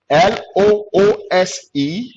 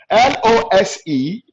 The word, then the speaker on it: lose: l o s e l o s t l o s e and l o s s a lot of